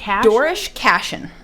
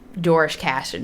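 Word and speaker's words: Doarlish Cashen: Dorish Cashin. Okay. Is how I, as an American, pronounce it. I'm not sure how someone on the Isle of Man would pronounce it.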